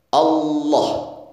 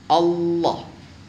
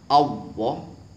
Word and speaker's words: Allah: dengan fasih Allah Allah apabila diucapkan dengan menggunakan wow Allah ini salah Allah atau lidahnya ditepuk terlalu ke belakang Allah salah Allah atau menggunakan lam tapi juga masih menggunakan bibir Allah Allah salah yang benar adalah ujung lidah nempel